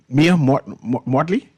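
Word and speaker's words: Mia Mottley: Tell me I'm pronouncing her name correctly? Mia Mortley?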